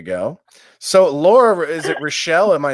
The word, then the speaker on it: Rishell: So Laura, is it Rochelle?